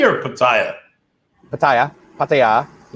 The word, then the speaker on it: Pattaya: the hotel and how do you say it patty or pattaya pattaya pattaya but i changed my date to the